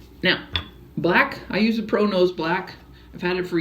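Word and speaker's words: ProKnows: Now, black, I use a Pro Nose black. I've had it for years. Pro Nose is some wonderful, wonderful makeup. It's spelled P-R-O-K-N-O-W-S.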